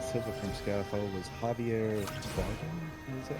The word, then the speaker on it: Bardem: Silva from Skyfall was Javier Bardem. Is that how you Javier pronounce it?